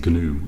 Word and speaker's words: GNU: gnu compiler and the the g is actually pronounced in gnu i believe it's some